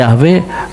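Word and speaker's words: Yahweh: Pola vokalisasi kata kerja Ibrani Hawah Haya William Albright arkeolog biblika terkemuka dalam Yahwe and the God of Kanaan tahun 1968 berpendapat pengucapan Yahwe paling mendekati bentuk aslinya.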